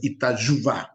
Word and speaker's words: Itajubá: nombre es it yuban la pronunciación es con Y sí pero no tiene importancia Marcos Sí porque en español se lee perfectamente itajubá la y aquí sería con en portugués itajuba sí un estado de